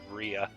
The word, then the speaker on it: Rhea: item known as a portrait of Raya or RIA my Sissel sister will get on my actually yeah she will kind of get on my case if I pronounced it Raya and stub RIA but yeah so this